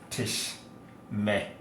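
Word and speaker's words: תשמרי: But second feminine singular is tishmeri, because when you have two shwa, the first one is silent, the second one is vocal. So it's tishmeri.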